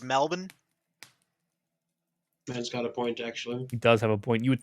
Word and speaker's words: Melbourne: excuse me from strat excuse me it's pronounced melbourne got a point actually